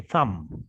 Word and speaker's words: thumb: finger it's called a thumb okay a thumb thumb it ends with a b but the b is silent we don't say thumb we say thumb like climb you know